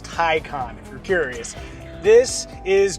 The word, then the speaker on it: Taycan: saying the name wrong the thai khan is like noted film composer han zimmer but first information explosion